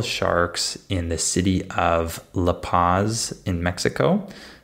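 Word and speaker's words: La Paz: in the city of laaz in Mexico that's the way we pronounce the city in English uh and this is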